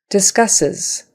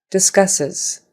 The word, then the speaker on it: discusses: line item discusses discusses those two s's have an S sound but the S on the end is a z sound discusses discusses and the syllable stresses on that middle syllable the second syllable purchasing purchasing notice that